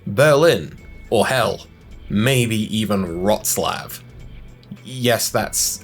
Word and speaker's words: Wrocław: You'll drive along and you yes, you can discover locations like Paris, Berlin or hell, maybe even Wrocław. Yes, that's how that place is pronounced.